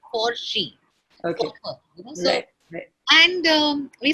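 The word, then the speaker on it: Forsch: he called it forsh it was a play on porsche p-o-r-s-c-h-e but the spelling was forge f-o-r-s-c-h and he pronounced his for she okay and um we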